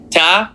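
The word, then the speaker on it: ت: Now the name of this letter is ta. The sound that it makes, t, the accent on the bottom, in, tin, tin, tin.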